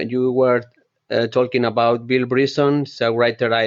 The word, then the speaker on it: Bryson: writer it's Bill Bryson he's pronounced Bryson I think you said breed Bill Bryson yes he's